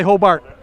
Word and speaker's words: Hobart: they taught me that if a local guy says Hobart, not even though you know it's spelled H-O-B-A-R-T, right? Yes. But you say Hobart.